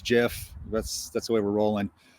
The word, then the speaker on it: GIF: Bottom line, it's GIF.